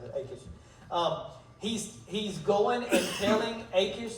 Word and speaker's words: Achish: Sorry, that's how you pronounce it. Achish.